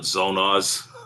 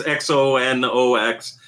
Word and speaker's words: Xonox: I call it Zonoz, but it's Xonox.